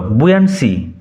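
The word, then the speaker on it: buoyancy: The ears বুয়েন্সি, উচ্চারণ লক্ষ্য করো, বুয়েন্সি, the ears বুয়েন্সি অ্যান্ড the Sans রে আর of advantage to মি অ্যান্ড the earths face upward for my inspection.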